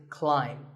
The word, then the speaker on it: climb: see on the screen the ai is an I sound not an a sound so the word is climb by the way what's